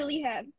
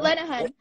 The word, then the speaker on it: Lenehan: Is it Lenehan or Lehan? Lenehan. Yeah, there we go. Lenehan.